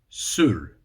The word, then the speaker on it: soor: Number 6 is Soor, which means sour. S-O-O-R. The pronunciation's a bit, it feels wrong for me